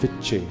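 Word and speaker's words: विच्चे: And the last word is Viche. Viche means to conquer. Vicche, but it's pronounced Viche.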